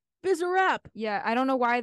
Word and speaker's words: Bizarrap: It's pronounced Bizarrap. Bizarrap.